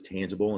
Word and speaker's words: tangible: And the G in tangible is a soft G because it's followed by an I, which is, you can pretty much count on, if the G is followed by the letter I, that's going to be a soft G.